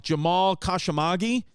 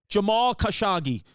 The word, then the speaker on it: Jamal Khashoggi: um Jamal how do you say his name Jamal kashimagi Jamal khashagi Jamal kashagi who was a very prominent sound you've heard